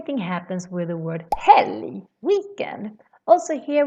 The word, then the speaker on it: helg: Same thing happens with the word helg, weekend. Also here we pronounce this as a U sound, because we have an L together with a G. Helg, berg, helg.